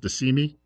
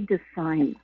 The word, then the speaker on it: DeSime: officer, and I think the last name is pronounced DeSimi, Jerry DeSimi. Is that right? No, I have a volunteer on my team, Jerry DeSime.